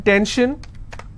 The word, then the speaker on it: tension: So how many syllables in tension? 2. Tension, I will stress on 10.